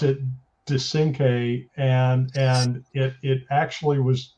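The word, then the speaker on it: Descinque: we pronounce that uh well i pronoun i pronounce it de synche and it it actually was uh a hat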